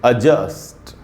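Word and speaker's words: adjust: तो इसमें ज पर ही आपको ज़्यादा रुकना है और मैंने उसको अंडरलाइन कर दिया है जिससे कि आप आसानी से समझ सकें।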